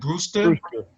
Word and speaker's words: Brewster: Brewster.